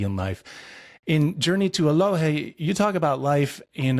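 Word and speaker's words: Eloheh: yeah and it's pronounced aloh aloh thank you yeah it's a Cherokee word basically meaning wholeness and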